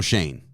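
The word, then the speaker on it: Schoen: That's Joe Shane. Yeah. Spelled the same.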